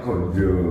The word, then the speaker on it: ganja: sampai pasi metuk kemudian tulisannya ganja tapi membacanya gonjo gonj Wah di luar